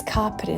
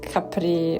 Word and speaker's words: Capri: And yes, it's Capri, not Capri. I mean, I have seen so many videos where people pronounce it Capri, and it's just not that place.